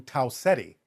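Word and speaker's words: Tau Ceti: Can you spell it? Uh T A U C E T. You're talking about the star system. Taetti.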